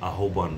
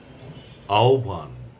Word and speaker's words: আহ্বান: আমরা কখনোই আহ্বান বলবো না। আমরা বলব আহবান।